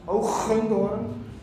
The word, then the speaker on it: Hoogendoorn: In Dutch, by the way, because I'm from the Netherlands, it's pronounced Hoogendoorn.